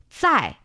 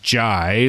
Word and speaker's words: 在: it's not jai, like a J sound in English.